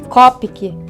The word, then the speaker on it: Copic: os copic na verdade a pronúncia correta é Kopke mas eu falo abrasileirado mesmo copic é uma marca japonesa